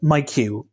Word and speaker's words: MiQ: premium economy seat it's the Collins Aerospace MyQ which is spelled miq and that's the seat